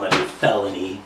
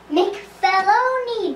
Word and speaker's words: McFeloni: Well, my felony, we got you this time red-handed. It's pronounced McFeloni, doofus. It's Scottish Italian.